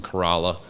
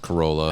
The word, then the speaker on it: Corolla: Yeah, at the top part of it was in Corolla, not pronounced Corolla.